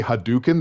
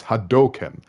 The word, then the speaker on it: Hadoken: If you ever heard anyone say Hadouken, they're saying it wrong. It's Hadoken.